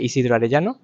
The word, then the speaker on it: Isidro Arellano: Et alors, je m'appelle Isidro Arellano, c'est prononciation en français. En espagnol, c'est Isidro Arellano, mais on fait déjà la prononciation avec le R spécial.